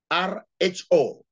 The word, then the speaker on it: rho: The formula for getting the Spearman coefficient of correlation is given as RHO, pronounced as rho, equals to 1 minus